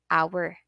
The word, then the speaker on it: hour: ba pag binasa siya dapat silent H yung our mo siya pwede basahin na h dapat ang basa ay our nagsisimula sa vowel a so that is all